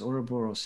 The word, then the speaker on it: Ouroboros: It seemed a lot more conceptual, you know, just the title, Ouroboros, I guess you pronounce it? Yes, Ouroboros.